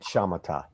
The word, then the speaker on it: Samatha: that a few times you spell it sama-top but say it shamata yes yeah yeah like